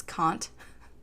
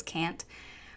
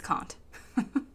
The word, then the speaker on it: Kant: She also can't pronounce Kant, because she says can't.